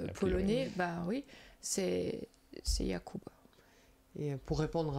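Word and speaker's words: Jakub: l'origine du du nom et si c'est une prononciation qui est basée sur l'allemand ou un allemand polonais polonais. Bah oui, c'est c'est Yakub.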